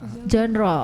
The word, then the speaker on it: genre: Oh, genre. Oh, itu pronounce-nya genre gitu. Yes. Oh. Genre. Oh, genre. Ya kayak Bonjour. Perancis ya.